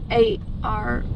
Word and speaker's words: arm: A-R-M. Arm. Arm. Arm. You're not arm. Arm. You're reich. Rich. Oh, right. All right, so if I'm just looking at somebody, I can say arm.